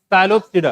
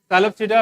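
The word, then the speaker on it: Psilopsida: पहला क्लास बताओ, साइलोप्सिडा, क्या बोलेंगे इसको? साइलोप्सिडा। पी यहाँ पे साइलेंट है, क्या है? पी साइलेंट, ये देख रहे हो यहाँ पे।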